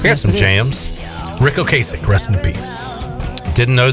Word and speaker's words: Ocasek: Rick Ocasek, rest in peace.